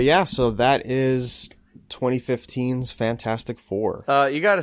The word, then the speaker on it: Fant4stic: stuff like but yeah so that is 2015's fantastic four uh you gotta say it the right